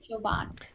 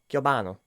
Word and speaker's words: Ciobanu: really hard to pronounce these names correctly. Um, Camelia Ciobanu. Ciobanu. Oh, Ciobanu. oh, Ciobanu.